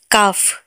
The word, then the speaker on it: calf: एफ में काफ, काफ, CALF, काफ, एफ के आगे एल है तो एल साइलेंट होगा।